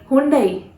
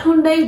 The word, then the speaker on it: Hyundai: No, you guys have been pronouncing this word, this brand wrongly. This is not Hyundai, this is Hyundai. Hyundai. Hyundai, okay? This is how you have to pronounce this brand, Hyundai.